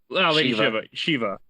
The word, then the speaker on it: Lady Shiva: Lady Shiva.